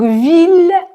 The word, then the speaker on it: ville: Donc, ville, on le prononce bien le. Normalement, I-L-L se prononce y, comme dans famille. Mais ville, tranquille, mille sont trois exceptions où on prononce il.